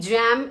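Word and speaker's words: jamb: B is silent. G-A-M-B, jam is the opening side of the door.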